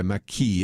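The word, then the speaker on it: Mackey: And they say, Bernie Sanders may have made socialism mainstream, but John McKay, I think he goes by McKee is how actually he pronounces his name, isn't buying.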